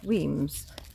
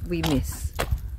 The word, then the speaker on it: Wemyss: here so uh yes weams where when the way it's spell it looks like we miss so just remember if